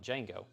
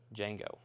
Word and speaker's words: Django: the d is solid d django then no and then jeff says the opposite or says different the d is silent django django yes uh tomato i'm